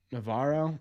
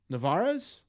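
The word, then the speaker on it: Narváez: look up Carlos naar oops Navaro no I'm pronouncing his last name wrong aren't I Nar no narez navarez Scouting Report yeah let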